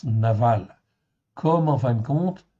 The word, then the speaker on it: Nabal: comme en fait Nabal en fait ici d'aval ça s'écrit Nabal mais ça se prononce Naval comme en fin de compte Nabal le mari de Abigaë.